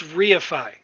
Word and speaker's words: reify: it's re, it's reify. Reify. Reify. Reify. I was pronouncing it wrong.